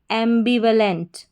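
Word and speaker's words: ambivalent: ए एम एम बी आई बी व वी ए व एम बी व एल इ एन T lent एंबिवेलेंट एंबिवेलेंट एंबिवेलेंट का मतलब होता है मिश्रित भावनाएं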